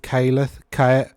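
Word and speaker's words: Khaeleth: Pendant of Caleth. That's an ash, isn't it? AE is pronounced ash. So if you think of the word ash, Caleth.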